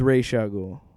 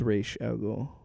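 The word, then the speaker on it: Ra's al Ghul: it's Ray Shagul. Huh? It's Ray Shul. Whatever. I'm joking. That's how uh Kevin Conroyy's Batman pronounces him. But then Christopher Nolan's Batman's Razul. I always thought it was Razul, but anyway.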